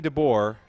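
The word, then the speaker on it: Dabbour: the Run run on First and brings Phoebe dbor to the plate Phoebe dbor not spelled like yours truly dbor it's spelled d a b b o u r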